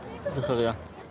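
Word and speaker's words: זכריה: Zakaria.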